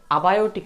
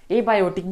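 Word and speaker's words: abiotic: अब आप देखिए अबायोटिक रिसोर्स, एबायोटिक भी कहते हैं और अबायोटिक भी कहते हैं, यानी कि एबायोटिक कहना बहुत अच्छा होता है, तो प्रोनाउंसिएशन थोड़ा स्टैंडर्ड लगता है इसलिए।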